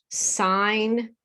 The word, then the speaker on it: sign: Sign, we don't say signen. That's signal. A lot of people get confused between signal and sign because we pronounce the G in signal. And even crazier, whistle, whistle.